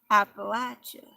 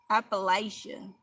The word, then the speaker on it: Appalachia: Jarvis is the one who taught me how to say Appalachia. Because I was saying it wrong. I was saying, what was I saying? I was saying Appalachia or something like that.